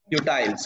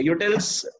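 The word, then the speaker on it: utils: यूटाइल्स. Okay, यूटिल्स भी इसका सही प्रोनाउंसिएशन है, बट गुड, आपको पता है.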